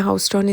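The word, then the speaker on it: Houston: और हाउस्टन और ह्यूस्टन, जो कि ह्यूस्टन आप लोगों ने ज़्यादातर सुना हुआ होगा, टेक्सास का एक स्टेट है, तो स्पेल्स दोनों की सेम है लेकिन प्रोनाउंसिएशन जो है वो डिफरेंट है। ये हाउस्टन है, वो ह्यूस्टन है, तो मतलब कान इधर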